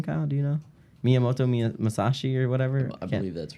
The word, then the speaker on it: Miyamoto Musashi: Miyamoto Musashi or whatever.